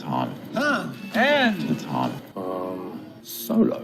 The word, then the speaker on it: Han: sound your M yeah this is Han Solo Han Solo anything H it's Han and the time um